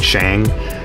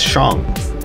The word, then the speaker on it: Shang-Chi: watching the movie especially you learn that it's shang like sean but with the g